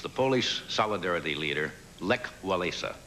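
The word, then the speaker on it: Wałęsa: Now topping the list was the Polish solidarity leader Lech Walesa. I think Valisa is the way they pronounce it.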